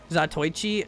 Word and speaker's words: Zatoichi: Zato 1 in Japanese pronounced Zatoichi, and refers to an old period drama about a blind swimmer named Zatoichi.